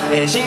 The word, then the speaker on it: 星: ました、シンガーソングライターの漢字で夜空の星と書いてシンと言います。